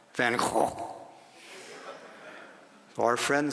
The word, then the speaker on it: Van Gogh: Netherlands, I learned that the correct pronunciation of that artist's name is not Van Gogh, as Americans pronounce it, but Van Gogh.